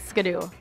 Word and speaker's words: Ski-Doo: How should we pronounce Skidoo?